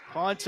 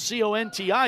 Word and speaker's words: Conti: And by the way, it's spelled C-O-N-T-I. You'd think it's Conti. My Italian self would think that, but Conti for both of them.